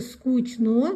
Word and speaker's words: скучно: Произнесите правильно. Пишется скучно, говорим скучно. Скучная, говорим скучная.